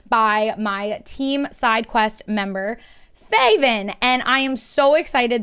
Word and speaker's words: Faevyn: me saying sure uh so my name is faven or faye and my pronouns are he they it's easy to remember because it rhymes i love that um so how are